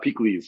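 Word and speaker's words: pikliz: will love the additional heat absolutely it's called peak leaves so that's spelled p i k l i z and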